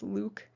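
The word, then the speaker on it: LIWC: inquiry and word count the abbreviation is pronounced luke to count up the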